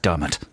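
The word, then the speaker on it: Diarmaid: on the internet nice and i know it's pronounced dermot good job man i'm a man i'm a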